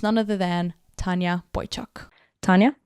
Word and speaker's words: Tanya Boychuk: and correctly yeah so um my name is Tanya Boychuk um people kind of call me whatever Tanya